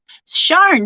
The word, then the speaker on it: Sharn: Oh, Sharn, that's how you say it.